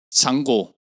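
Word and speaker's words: Django: 보안관 분노의 추격자 잔고죠 장고 장보고 d는 묵음이다 이게 원래 잔고 분내추격자에서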